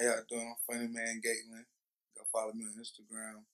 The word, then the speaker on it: Funnyman Gaitlin: I'm Funny Man Gaitlin. Go follow me on Instagram, Facebook, and Twitter. Okay, so I mispronounced it. It's Funny Man Gaitlin.